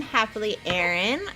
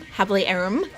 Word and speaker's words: HappiLeeErin: today was the happy we headed yeah I'm happily Aaron I have a youtube channel it's under the same name it's spelled h AP PIL ee e rin I'm sorry I am er I am happily Aaron excuse me for the the baby whining in